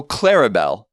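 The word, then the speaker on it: Clarabelle: then two unstressed syllable so clarabel is an example of a a Dactyl three syllables you stress CLA clarabel is a is a dactylic foot Papa exactly Papa now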